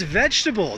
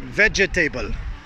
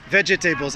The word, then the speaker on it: vegetable: A lot of my students pronounce it vegetable. Vegetables. I eat my fruits and vegetables. Way too many syllables there. Again, this one's three syllables like comfortable. Vegetable.